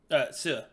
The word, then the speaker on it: Xue: how do you pronounce Xue? Sue.